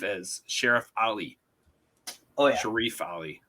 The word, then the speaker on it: Sharif: Oh yeah, Sharif Ali. I think that's how they pronounce it in the movie. Yeah, it's like I think it's technically Sharif Ali, but I mean Lawrence just calls him Sheriff.